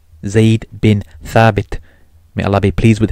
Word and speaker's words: Zaid bin Thabit: pronounce arabic names properly he couldn't pronounce they'd been thrabbed properly he says it as they'd been sabite the funny thing is the text is in english zaid bin thabit may allah be pleased